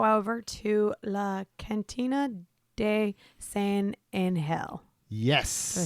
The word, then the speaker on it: San Angel: It's a soft G. It's like the soft J in yogging.